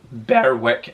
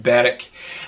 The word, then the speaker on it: Berwick: will be mentioned again it's not pronounced bear wick as beric it's a silent w so just beric um it's been between